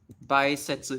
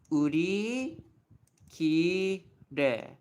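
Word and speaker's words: 売り切れ: No, you don't call it baisetsu, even though I know it's tempting to say it this way. This phrase is actually read in the pure Japanese pronunciation. So it's like uri kire.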